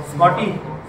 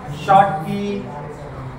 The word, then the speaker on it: Schottky: ही जी चित्र विचित्र दिसते ती स्पेलिंग लक्षात ठेवा. काय लक्षात ठेवायचं? स्कॉटी. हा, स्कॉटी म्हणणार आणि केक खाल्ला का? पाटकी. बर, मग त्याने सगळं बरोबर म्हणले. काय स्पेलिंग लक्षात ठेवा? SCHOTTKY. शॉर्ट की काय सांगतो? शॉर्टी. स्कॉटी. बर, काय स्कॉटी.